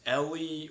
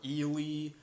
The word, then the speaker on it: Eli: in next door recently named Ellie or Ely. I've heard it pronounced many different ways. It's spelled out as Eli, but no one ever pronounces it that. So I'm just gonna say Ellie just to make it easier.